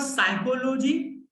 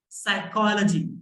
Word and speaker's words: psychology: This is not psychology, this is psychology. One more time, repeat after me. Psychology, it's logy, psychology.